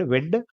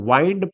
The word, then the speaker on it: wind: ये जो वर्ड है WIND, इसके दो प्रोनाउंसिएशन है। जब इसको विंड पढ़ते हैं तो ये होता है हवा, जब इसको वाइंड पढ़ते हैं, वाइंड, है ना, तो क्या होता है, तो होता है किस चीज को आप करते हो, वाइंड